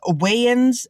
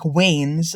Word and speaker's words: Wayans: So there's Wayans ends up sounding like Waynes, which is why I did that Wayne's World pun.